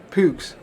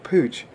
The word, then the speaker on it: Puch: Puch, often pronounced by English people Pooch, was founded by in